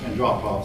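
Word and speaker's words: Andropov: and drop off and his name is pronounced and drop off succeeded him and drop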